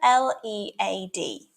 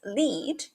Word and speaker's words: lead: of a Twist consider l e a D when pronounced as lead it refers to guiding or directing but switch up to lead and suddenly it becomes a heavy metal same spelling different pronunciations